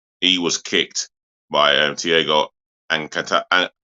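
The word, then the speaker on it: Alcântara: was kicked by he was kicked by Thiago Alcantara. How do I pronounce his surname? Alcantara.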